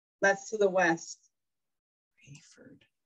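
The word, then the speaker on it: Raeford: the west side out near rayford and we're in the sandhills and when i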